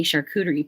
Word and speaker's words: charcuterie: Because I can't say charcuterie properly. Well, you say it better than I do. How do you say it? Charcuterie. Charcuterie. Like a shark, an animal shark.